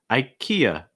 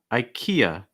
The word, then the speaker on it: IKEA: after that we have ikea ikea i think a big thing i see with students is the last syllable that a sound finishing with that schwa ikea ikea you want